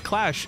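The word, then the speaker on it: QLASH: Q-Lash. Pronounced as Clash, as I learned.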